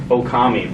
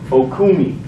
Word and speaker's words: Okami: at our show and he never could pronounce okami properly he would always call it okumi remember that okumi so do you remember